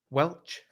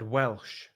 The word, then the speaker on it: Welch: Welch. Sounds good to me. I mean, is that right? Yeah. Because I might have said Welsh. Yeah, it's not spelled like that though.